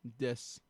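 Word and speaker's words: です: the the romanization um an example of this is des which ends with Sue but wew writing it in English as Des rather than Desu um as it's pronounced without the o sound we play O so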